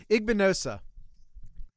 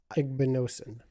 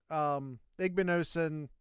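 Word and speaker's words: Igbinosun: Igbinosa. Mm-hmm. Got it. No? Are you telling me no? Igbinosin. Okay.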